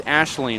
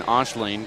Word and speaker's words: Aisling: It's Aisling is how you say it, but I keep saying Aisling, but that's actually messing me up quite a bit.